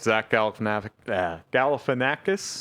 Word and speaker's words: Zach Galifianakis: I really liked Zach Galifianakis.